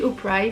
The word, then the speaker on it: Opry: Pas du tout, dit Opry, ça s'écrit O-P-R-Y, City Stage.